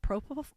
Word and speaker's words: propofol: Is it propofol?